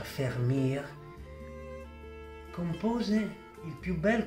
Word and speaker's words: Vermeer: fiammingo johan der meer che come sapete si pronuncia fermi a compose il più